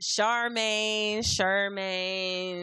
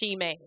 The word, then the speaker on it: Shemaine: I get Charmaine, like they get the spell wrong. They spell it with a C. It's supposed to be spelled with an H. It's pronounced Shemaine. Shemaine. But if you're saying it fast, it's Shemaine. Shemaine.